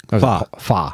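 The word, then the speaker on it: phở: Pho. That's pho. Pho? Yeah. My God, my pronunciations are horrible.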